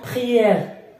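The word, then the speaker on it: prière: او في الاخير لا تنطق، اوكي. بخيير دونك عندما اجد او في اخر الكلمه اقف على الحرف ما قبل او، دونك ار بخيير هذه ثاني تنطق اي، بخيير، اوكي.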